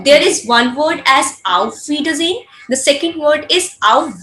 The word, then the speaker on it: auf Wiedersehen: get a letter S, you're always going to pronounce as Z, not so.